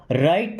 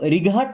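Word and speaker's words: right: या चारों तरफ एक बार घूम जाओ टर्न अराउंड राइट नाउ देखिए इसको रिघाट नहीं पढ़ते यहां पे जी और एच साइलेंट होता है टी के पहले कभी भी जी एच आएगा तो वो साइलेंट रहेगा ऐसे आपको कितने वर्ड पता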